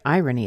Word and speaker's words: irony: really not so weird the word irony is stressed in the beginning and then it has two week syllables after it irony and if it it's